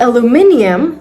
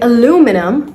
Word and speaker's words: aluminium: Another pronunciation difference is, are you saying this word as aluminium or aluminum? So if you're saying aluminium, that's British English. However, if you're saying aluminum, that's American English.